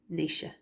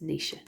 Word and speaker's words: Naoise: And Ridgera of Doan is Naoise. It's Naoise.